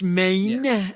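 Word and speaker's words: Mayne: was also the narrator pronounced pronounced Maine Maine like yes red Maine that other actor from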